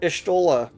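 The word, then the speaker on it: Y'shtola: evil that seeks to consume us hey so estola um that is how it's pronounced uh was the person that would help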